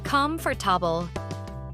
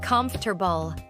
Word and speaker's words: comfortable: Yes, I said comfortable. That's very common. But actually, it's comfortable. Right, you almost skip a sound.